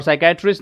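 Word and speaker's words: psychiatrist: हैं ठीक है और साइकेट्रिस्ट में मनोचिकित्सक जो होता है तो यहां पे पी साइलेंट है हम यहां से इसको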